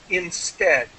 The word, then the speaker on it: instead: So, just let me help you with instead, like head, instead. Or dead, yeah.